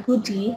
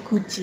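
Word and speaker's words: 굳이: yang ini beda kasus jadi ini bukan GUI tapi karena dia punya rumusan sendiri ini D kalau ketemu i jadi J jadi bacanya guji seperti ini khusus enggak semu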